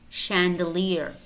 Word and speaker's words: chandelier: Also spelled CH as an exception, and these are pretty much, there are probably maybe 4 or 5 more words that are spelled CH and pronounced sh.